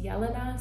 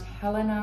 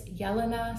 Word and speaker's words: Jelena: And my name is pronounced Jelena. So it's pronounced like with a Y. So not Jelena, not Jelena, not Jelena, not Helena. I get Helena a lot. It's Jelena.